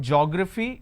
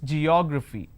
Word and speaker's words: geography: It's not geography, it's geography.